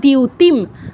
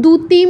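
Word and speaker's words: দ্যুতিম: সংকাশ কাশিপে মহাদিউতি মহা দিউতিম এটা কিন্তু দুতিম ধুতিম এগুলো বলা যাবে না দ যোগ ইয় দিয়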